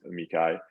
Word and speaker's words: amici: other parties called amici, or everyone pronounces that a little bit differently, but I call them amici, and they're quote unquote friends of the court.